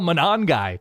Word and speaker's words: Monangai: Because nothing is getting your dopamine to fire with the Scarlet Knights and Greg Schiano and Kyle Monangai. Did I pronounce that correctly?